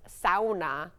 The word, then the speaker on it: sauna: I don't know what that is, but I do know that it's pronounced sauna thanks to the Finnish Center.